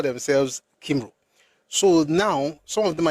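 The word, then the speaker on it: Cymru: It's that pronunciation for me is Kim because it's easier for me to pronounce that way but for them it's comry or com C Y M R U and it means fellow countrymen or compatriots.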